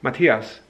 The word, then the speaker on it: Matthias: I'm very flexible of how people pronounce it, because when I tell people how it's pronounced, Matthias, they will invariably mispronounce it, because if you're not a native German speaker, the subtleties of what